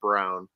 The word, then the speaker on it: Braun: Christian Braun off the bench, or Brown. I think it's spelt Braun but pronounced Brown.